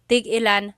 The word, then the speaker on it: tigilan: When there's no hyphen, tigilan, tigilan. It's just one word, tigilan.